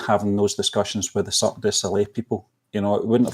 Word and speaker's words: Cirque du Soleil: Literally, how do you pronounce it? Is it Soleil? And I searched up. No, it's Cirque du Soleil.